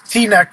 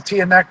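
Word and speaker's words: Teaneck: that on purpose ER I mispronounce T Neck New Jersey I call tan neck just to mess him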